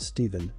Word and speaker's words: Stefan: a female named steven spelled stefan pronounced stephen c it doesn't even